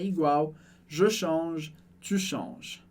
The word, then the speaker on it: change: De qualquer maneira, a gente não pronuncia o e do final em je change e a gente não pronuncia o e e o s do final de change. Essa é a regra geral do francês. E no final da palavra a gente não pronuncia, e S no final das palavras a gente também não pronuncia.